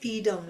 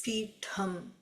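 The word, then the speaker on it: पीठम्: We use D in that as Peedam. In Tamil common parlance, that's how it is. When you go to the Sanskrit pronunciation of the Peedam, it is the second It's Peetham. So in the Sanskrit Sanskrit it is Peeṭham. So in common parlance we say Peedam, which is okay.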